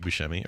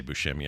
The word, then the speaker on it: Buscemi: Did you know that episode was directed by Steve Buscemi, or Buscemi? You mentioned that, yeah. I think I just got to say Buscemi.